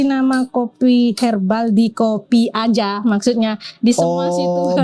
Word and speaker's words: Azza: Makanya dikasih nama kopi herbal di kopi aja, maksudnya di semua situasi. Berarti Aza ini bacanya aja.